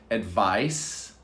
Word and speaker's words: advice: is a verb and of course you can hear the difference advice advise there's a z on the verb advise advise let's try it advice